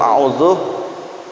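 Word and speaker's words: أعوذ: Nah, jadi di dalam a'udzu, cara bacaan yang tartibul qiraah. U-nya 2 harokah. A'udzu bil U-nya 2 ketukan. A'udzu billah, ketukannya masuk dulu. A'udzu billahi minasyaitonir rajim. Jangan a'udzu billah. Nah, itu enggak panjang ya.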